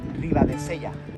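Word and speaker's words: Ribadesella: How do you pronounce the name of this town? Ribadeseia.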